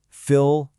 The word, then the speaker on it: fillet: But listen, listen to how you say it. Fil. Just like in castle, that T is totally silent.